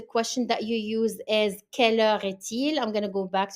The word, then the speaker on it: quelle heure est-il: the time, the question that you use is quelle heure est-il? I'm going to go back to the first one to show you the pronunciation of the question. It is quelle heure est-il?